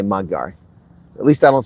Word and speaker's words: Magyar: and the Tories themselves Yeah, I know it's pronounced Magyar, but I say Magyar.